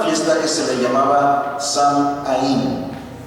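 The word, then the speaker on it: Samhain: eh se le se le pronunciaba samín verdad y viene de una palabra Irlandés vieja O más bien del Irlandés viejo del Irlandés antiguo que significa fin de verano samaín pues significa fin de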